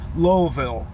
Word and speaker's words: Louisville: uh on Wednesday for Louisville Kentucky lville is how they say it I go there every